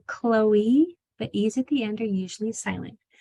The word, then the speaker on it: Chloe: So you do spell Chloe with an E that is voiced at the end, but in most other words, OE at the end is silent.